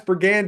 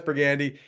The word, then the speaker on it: Pergande: I've got Brennan Quintus, who's the president and CEO, and Tess Pergande. Did I say it right, Tess? Yes. Oh, I was so worried about that. And she helped me out. Tess Pergande.